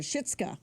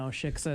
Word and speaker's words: shiksa: for the shitska. Right. Yes. Yes, and that's. Shiksa? Shiksa. Oh, sorry, said it wrong.